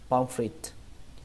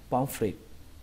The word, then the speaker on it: pomfret: Chúng ta bỏ âm T bắn hơi, chúng ta đọc frit bình thường thôi, không cần âm hơi T nữa, thì người ta cũng hiểu được bình thường. Chúng ta có thể đọc là pomfret, pomfret.